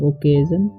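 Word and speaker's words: occasion: On this ओकेजन पढ़ेंगे, ठीक है, ओकेजन, ठीक है। यहाँ पर ओ डबल सी का उच्चारण हो जाएगा ओके और ASION का एजन, तो ओकेजन, ठीक है।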